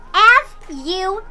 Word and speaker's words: fuchsia: F-U-C-H-S-I-A. So, wala pa rin nanalo. F-U-S? Yes, fuchsia. F-U-C-H-S-I-A. That's right. Wrong pronunciation ka.